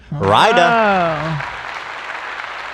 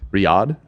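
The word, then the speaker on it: Riyadh: Rya. Yes, sir. You say Rya. Yeah. Yeah. That's not how it's pronounced. Riad. How do you say it? Riyad. Riad. Yeah.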